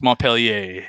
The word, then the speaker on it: Montpellier: It's Montpelier if you're in Vermont. It's Montpellier if you are in France.